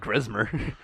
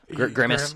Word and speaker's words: Grimace: Really, I didn't like Grismer. Grimace. Grimace. Grimace, Yeah. Grismer. Grismer tires. I'm known for mispronouncing or just completely getting names, No, that's names cool.